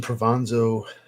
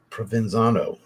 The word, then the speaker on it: Provenzano: Christian Provanzo, I always pronounce his name wrong. I know he does Spirit of Kings. I know he's the in-house perfumer for them. Provenzano, there we go.